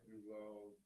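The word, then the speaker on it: Dulot: D-U-L-O-T. How do you pronounce that?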